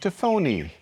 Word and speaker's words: tafoni: And so I'm choosing to go with an Italian kind of pronunciation, so Tafone and Tafoni.